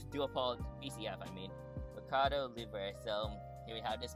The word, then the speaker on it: Mercado Libre: Mercado Libre. Okay, so Mercado Libre 737-800 right there. It's a P2F, and yeah, dual pole BCF. I mean, Mercado Libre.